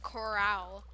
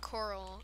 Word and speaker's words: corral: And as my friend pointed out today, you pronounce it corral and not coral.